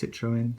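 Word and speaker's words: Citroën: above the citro Citroen it's actually pronounced Citroen so got to start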